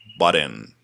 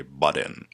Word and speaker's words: butt in: So the first idiom of this lesson is butt in. Yes, butt in. It's pronounced de, double T when they come together. It's pronounced de in America. So we say butt in.